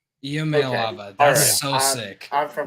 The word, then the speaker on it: Iamaleava: It's not an L. Oh goodness. It's is it I? It's Iamaleava. Iamaleava.